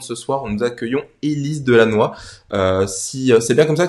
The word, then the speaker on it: Delannoy: dans l'émission de ce soir, nous accueillons Élise Delannoy. Si c'est bien comme ça que ça se prononce ou il y a un petit accent du Nord quand même?